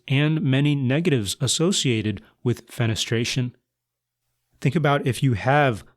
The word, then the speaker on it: fenestration: And I love the word because it sounds so weird and maybe a little aggressive because it rhymes with penetration, but it's not at all aggressive.